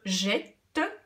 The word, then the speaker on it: jette: Quand je dis je jette, j'entends le son et. Donc, lorsque je vais écrire jette, je vais devoir mettre 2 T pour que ce E se prononce est.